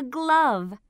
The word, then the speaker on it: glove: This is a glove. What's the ending sound in glove? V. That's right. V. Glove. Can you hear the eh sound in glove? No. That's right. The E is silent.